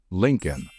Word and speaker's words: Lincoln: the thing is that the second l in this word is silent so the correct pronunciation of this one is Lincoln just remember it and my Lincoln I drive a l